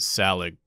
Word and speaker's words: Saelig: at a thread and no one could decide how to pronounce this game the developer I think calls it salad so that's what we're gonna call it salad is a game where